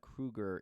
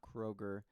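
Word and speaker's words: Kroeger: to hate Nickelback again and yes it is Krueger not Kroger most people say his last name wrong if you don't believe me um go and look at interviews of him talking about it his name is Krueger not Kroger but anyways moving on so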